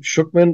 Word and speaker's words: Schuchman: And by the way, guys, it's Schuchman, and it's SCHUCHMAN. Okay, Schuchman. It's pronounced like 2 O's and an I.